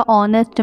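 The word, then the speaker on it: honest: हैं यहां पर देखिएगा ऑनेस्ट मैन यहां पे एच जो है वह साइलेंट है तो इसलिए हम यहां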